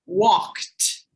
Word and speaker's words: walked: Walked has a T sound at the end.